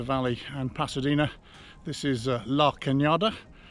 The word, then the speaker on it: La Cañada: and Pasadena this is LA cañada which is spelled la canada much to Nancy's annoyed sigh say hello Canada sorry Nancy is so